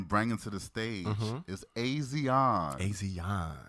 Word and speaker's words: Asiahn: to the stage is Asiahn. Asiahn. Don't get it fucked up. Don't get it fucked up. Do not. Because let me tell you, every interview that I read, you will see how it's pronounced.